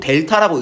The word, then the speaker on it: 델타: 그래서 우리 세모 기호 쓰고 델타라고 읽습니다. 그리스 문자네.